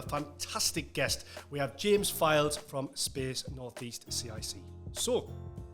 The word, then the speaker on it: Fildes: So, my name's uh James Allen Files. Um, sometimes get Fields or Fiddler.